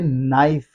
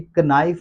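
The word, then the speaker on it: knife: इसलिए इसको हम पढ़ेंगे नाइफ। नाइफ को कभी भी कनाइफ नहीं पढ़ा जाता।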